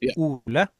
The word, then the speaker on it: Ole: You want me to pronounce it? Yeah. My name is Oola.